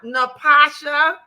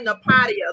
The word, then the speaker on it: Napasha: I used to be calling her Napadia, the way her name is spelled. Right. Everybody. Napatia or Napadia. That's what I was calling.